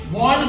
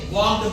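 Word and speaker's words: walked: तो लोग हमेशा या अक्सर, वॉक्ड, यहाँ पर भी देखो एल साइलेंट है, वॉल्ड नहीं पढ़ेंगे, वॉक्ड पढ़ेंगे, एल साइलेंट है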